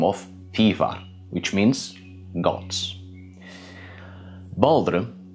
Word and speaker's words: Baldr: Baldr, in runes, would be pronounced Baldir or Baldir, which means new or